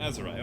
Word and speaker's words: Azariah: Okay, alright, so the H is silent. Azariah, okay. Hopefully I'm saying that right still, too.